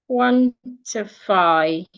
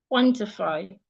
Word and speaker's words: quantify: So if I have the word quantify, excuse me, quantify, or I have the word fatherly, fatherly. So according to the rule, these 2 words have 3 syllables. One ends in FY, the other ends in LY. So the rule says you should stress the first syllable.